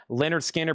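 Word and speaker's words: Lynyrd Skynyrd: Leonard Skinner pronounced on the original label.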